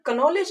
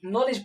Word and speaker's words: knowledge: और जैसे एक वर्ड ले लेते हैं हम लोग, बहुत ही फेमस वर्ड है KNOWLEDGE, इसको हम लोग कनॉलेज नहीं नॉलेज पढ़ते हैं।